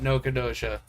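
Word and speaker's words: Nacogdoches: My favorite city name of all time is Nocodosha. Nocodosha. Yep, it's not spelled any way how you think it's pronounced. Yep, it's not, and it is said Nocodosha.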